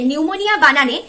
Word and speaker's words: pneumonia: আসলে ইংলিশে নিউমোনিয়া বানানে পি দিয়ে শুরু হয়, পিটা সাইলেন্ট থাকে।